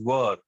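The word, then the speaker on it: were: Same formula, बस ऊपर था सब्जेक्ट के बाद एम इज आर, और यहां पर है सब्जेक्ट के बाद वॉज वर. इसे वेयर मत बोलो, इसे बोलो वर.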